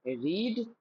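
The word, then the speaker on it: read: रेड और यहां पे रेड तो रीड रेड रैड रीड रेड रैड लिखावट सेम याद रखना।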